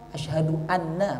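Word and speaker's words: أشهد أنّ: menggunakan bahasa Arab kemudian harus terhindar dari pengucapan yang dapat merubah makna asadu anna muhammadar rasulullah Ashadu anna bukan Anna Anna itu sesungguhnya Kalau Anna dari kami azan yang seperti ini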